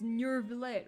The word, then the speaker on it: Neuvillette: It's Neuvillette. Why'd you have to pronounce it like that?